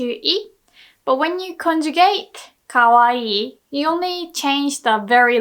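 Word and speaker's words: かわいい: dick Kawa eat but we don't really pronounce okawa eat we say kawaii right if there's only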